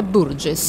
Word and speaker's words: Burgess: Burgess, sì, o Burgess, lei pronuncia Burgess. Burgess, perfetto.